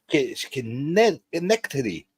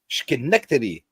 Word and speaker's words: Schenectady: Schenectady. Schenectady. I know how to say Poughkeepsie. Schenectady. Doesn't count. He's from upstate. Okay. Not real New York. Robert, I'm sorry, I can't pronounce your city's name. It's Schenectady.